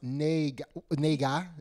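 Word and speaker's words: 那个: And it's pronounced Nei Ge.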